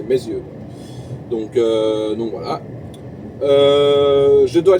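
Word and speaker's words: Meyzieu: de lion en fait ça s'appelle mes yeux simplement voilà ça s'écrit pas pareil que mes yeux mais c'est mes yeux donc donc voilà je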